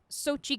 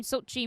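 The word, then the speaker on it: Xochitl: that uh schulte it looks like sochi gomez according to wikipedia that's how you pronounce it but don't quote me on it yeah sochi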